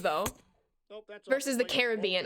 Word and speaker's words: Caribbean: Nope, that's versus the Caribbean. I think when growing up, I always said the Caribbean. As I've gotten older, I've said the Caribbean. I feel like it's like the lazy pronunciation.